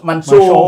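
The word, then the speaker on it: Mansour: Kalau Sheikh Di- Mansur, di- bacanya harus, di- bacanya harus Mansur.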